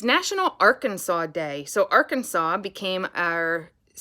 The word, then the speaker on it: Arkansas: r kansas it doesn't you don't pronounce it kansas at the end you pronounce it arkansas which makes it really